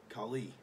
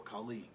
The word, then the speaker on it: Kali: and it says about Kali pronounced Kali Kali or Colleen this ultra powerful Hindu